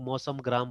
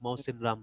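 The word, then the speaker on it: Mawsynram: बहुत लोग मौसम ग्राम बोलते हैं, पता नहीं क्या क्या बोलते हैं, ठीक है, बट इट इज मौसिन राम नाम है इसका, है ना, ठीक है।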